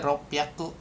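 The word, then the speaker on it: 六百: Kalau kayak 600 berarti ropyaku gitu kan. Kada su kecil sama h-nya jadi pi jadi p rop piaku atau 800 hapaku.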